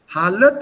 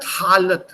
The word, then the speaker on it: हालात: Halat and halat. I can't use the long a in both. I can't say halat halat.